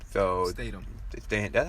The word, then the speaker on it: Statham: is a spinoff with The Rock and Jason Strahan. So Statham. Statham. That's how you say it? Statham? Yeah, Jason Statham. I've been pronouncing this man's name wrong for years.